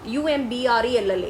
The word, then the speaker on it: umbrella: You take the word umbrella, UMBRELLA, it's umbrella, എന്നാണ് നമ്മൾ pronounce ചെയ്യുന്നത്. So that word is an umbrella.